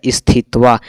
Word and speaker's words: स्थित्वा: लेकिन इसका सही उच्चारण करेंगे तो यह हो जाएगा स्थित्वा। तो स्थित्वा इसमें से हो जाएगा ऑप्शन बी यानी कि 16 का राइट आंसर हो जाएगा बी।